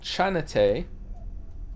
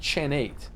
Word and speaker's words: Chanate: It's pronounced Chanate. Chanata, not Chan8.